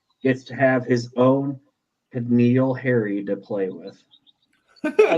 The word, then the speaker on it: N'Keal: So now Justin Herbert, the real Justin Herbert, gets to have his own N'Keal Harry to play with. I love that you always say Keneal. It is N'Keal.